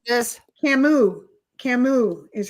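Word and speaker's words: Camus: She says um Albert um Camas or Camas, I don't know how to say it, was a French philosopher. He she considers most of his work to be existential. Who said this? Camu. Camu is how you pronounce it.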